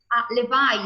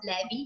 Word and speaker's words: Levi: used to good Cassie so Levi is this is the pronunciation of this branch if it's not levy is okay and you have